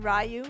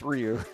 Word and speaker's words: Ryu: bit of a thing some people may call him rayu well they're wrong yeah they are wrong the name is is pronounced Ryu so who's calling him